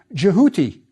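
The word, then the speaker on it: Djehuty: Inside the cartouche, we have the ibis, which in ancient Egypt was pronounced Jehuti, but the Greeks called him Toph, and it's stuck in classical antiquity.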